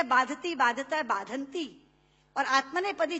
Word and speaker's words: बाधते: कष्ट नहीं दे रहा जितना आपके मुंह से बोला हुआ बाधति शब्द कष्ट दे रहा है क्योंकि बाधते शब्द का अशुद्ध उच्चारण आपने किया है यह शब्द बाधते होना चाहिए भारत न बाधती राजन यथा